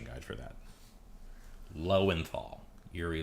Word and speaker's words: Lowenthal: that took far too long to find find pronunciation guide for that lowenthal Yuri L and FL okay moving on yeah he got it finally Yuri lenthal I always find it funny that Yuri lenthal